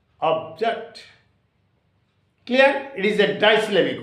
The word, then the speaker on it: object: is a trisyllabic word for example object of o B jacked okay object so there are two syllables here of it is a single syllable and the stress should be on o object clear it is a